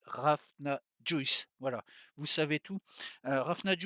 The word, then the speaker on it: Hrafna Juices: même si c'est pas ça paraît plus compliqué à une fois écrit que le prononcer et en fait c'est tout simple c'est raf n'a joyce voilà vous savez tout